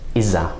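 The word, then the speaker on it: إذا: going to hear either/or it's often pronounced iza right that sort of unite into a sound and in mostly an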